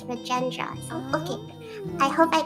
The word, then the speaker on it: Rajendra: I thought it's pronounced Rahendra, but then I listened to the dub just to make sure, and it's Rajendra.